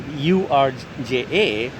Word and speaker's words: Urja: Urja is actually described, if you look it up on Google, URJA or OORJA, the pronunciation is Urja.